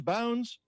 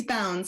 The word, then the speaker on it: Bounds: yeah I break it did I pronounce that right as a bouns bones its bounds like I don't we're